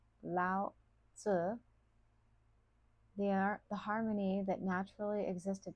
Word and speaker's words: Lao Tzu: To Lao Tse, pronounced Lao Tzu, the harmony that naturally